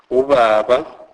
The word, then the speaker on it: ubaba: B is pronounced as V. V. This is soft B sound pronounced with a bilabial inclusion, e.g. ubaba, ubaba, my father or our father.